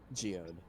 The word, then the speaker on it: Geode: I love Geodude. He's one of my favorite characters. Yeah. Is he actually Is it his name actually say pronounced as Geodude or is it Geode? Geode.